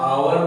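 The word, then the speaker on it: hour: एच ओ यू आर को हम लोग आवर पढ़ते हैं। और यहाँ एच आपका है साइलेंट, इसलिए यहाँ होगा एन। लोग एच कॉन्सोनेंट को देख के देंगे ए, लेकिन नहीं, यहाँ होगा एन आवर।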